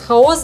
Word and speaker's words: хаос: Вот как раз для таких женщин будет прям прекрасно в том, что в слове «хаос», «хаос» — двойное ударение. То есть 50% на 50%.